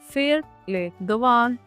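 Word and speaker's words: faire les devoirs: फेर ले दवान, फेर ले दवान।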